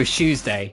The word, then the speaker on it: Tuesday: like no shes day you don't pronounce it like a CH it's more like a sh like sh but with a little bit of a kick on it it go shoesday you don't go Tuesday you